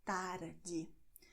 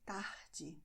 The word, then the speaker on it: tarde: Tarde, I pronounce it with the São Paulo accent, which is tarde. But in many other regions in Brazil, people will pronounce tarde instead.